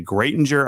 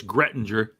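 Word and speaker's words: Graettinger: 169 to get to greatinger Iowa at a golf course mind you that's okay it's grettinger okay know how to say it sure when you're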